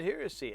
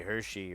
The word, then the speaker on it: heresy: I said heresy. At least you say it right. A lot of people say Hershey or they're like Hersey or something, and I'm like, what?